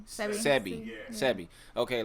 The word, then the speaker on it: Sebi: Is it CB? Sebi.